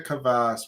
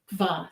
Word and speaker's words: kvass: which we did a kvass previously, right? I'm pretty sure it is a kvass. Did I say kvass? It's kvass. Kvass. It's not two syllables, it's one syllable.